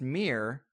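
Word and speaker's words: Mihr: It's the only active, still standing pagan temple in Armenia, and it was actually built, they believe, to venerate, I believe it's pronounced Mir, M-I-H-R, but that's the sun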